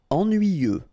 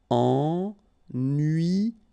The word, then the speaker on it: ennuyeux: Ennuyeux. Okay, final X not pronounced, and then ennuyeux.